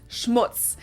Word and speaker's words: Schmutz: And last but not least, the final word on my list is Schmutz. This one is pronounced and used the same way in both languages and it means dirt.